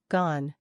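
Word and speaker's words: gaan: try the whole word gone the on part is pronounced like on in English gone means goes and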